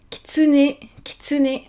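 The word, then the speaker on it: きつね: Donc ici, 3 syllabes, kitsune. Si vous écoutez bien, si vous entendez bien comment je le prononce, le I il est presque muet, le U est presque muet aussi. Et limite j'insiste plus sur le né final.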